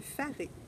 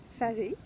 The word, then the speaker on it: faré: Donc, le faré, on se demandait si c'était bien comme ça qu'il fallait le prononcer. C'est bel et bien faré qu'il faut dire.